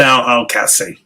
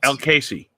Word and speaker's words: Al-Kassi: Adnan Al-Kassi. See, I can never say Adnan. It's so easy. I can say Adnan. It's the last name. Al-Kassi. Al-Kassi. It's like Casey's General Store.